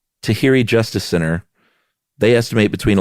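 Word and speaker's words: Tahirih: Uh, I think the uh how do you pronounce that? I want to say um Tahi Tahhiri Tahhiri Justice Center they estimate between 11,000 and 16,000 uh women immigrate each year through a marriage broker.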